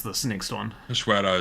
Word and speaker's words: Cachoeira: Cachoeira is how you pronounce it. Remove it. Really? What is I thought it? it was Cachoeira. No, it's Cachoeira. It's waterfall, and I forget what language.